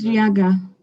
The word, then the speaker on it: Riaga: It's Riaga. Riaga. Yes. Okay, Riaga. But if you say Riaga, I would expect to have I or Y somewhere.